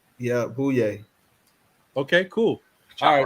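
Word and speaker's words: Bouyea: who don't know how to spell it can spell it like anyway, Jamare Bouye? Yeah, booyah.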